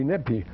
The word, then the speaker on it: Nephi: way you want well some like nephi if i would be neppy you notice i don't spell it with an f because it's not enough it's two separate letters means my lord is nephe it means my lord